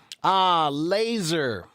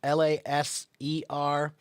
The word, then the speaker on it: laser: Laser. Laser. Alex. Laser. Or actually laser is spelled with an S, but it's pronounced with a Z.